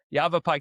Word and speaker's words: Yavapai: Also, how do you pronounce that county the right way? I feel embarrassed. Yavapai County.